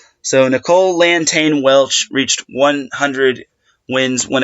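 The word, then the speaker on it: Lantagne: at the applause button okay her pronunciation is pronounced LAN tain so Nicole Anton Welch so big shout to UCSB s women's volleyball website frothing the pronunciation so Nicole LAN tain Welch reached 100 wins when it came to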